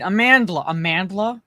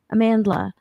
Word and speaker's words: Amandla: The Acolyte lead, Amandla Stenberg.